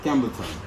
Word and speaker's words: Campbelton: Campbelton, am I pronouncing it right? Yes, Campbelton.